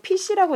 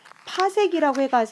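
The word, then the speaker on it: 파섹: 여러분 이거 PC라고 읽으시면 안 되고요. 파색이라고 해서 우리가 별까지의 거리를 구할 수 있다는 거.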